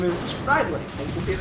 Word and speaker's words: Ridley: His name is Ridley, as you can see at the top of the screen there. Riley? Ridley. Ridley. Yeah, it's pronounced both ways. Like an alias, Ridley.